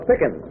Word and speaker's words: Pickens: Keela this is Miss Pickens rhymes with chicken Taurus green I said